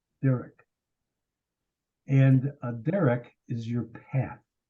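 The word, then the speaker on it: דרך: Caleb Sarah told my own uh it's actually pronounced Derek Derek and Derek is your path as you walk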